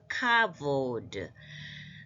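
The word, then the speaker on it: כבוד: 카프에 그 안에 점이 있을 때는 영어 이게 하드 카프 해가지고 영어의 K처럼 발음합니다. 그래서 카보드.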